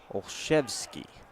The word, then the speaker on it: Olszewski: Olszewski is how it's pronounced. Spelled different from how it's pronounced.